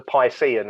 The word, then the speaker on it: Piscean: Like, it's the Piscean, as in Pisces, so it's the Piscean Scepter.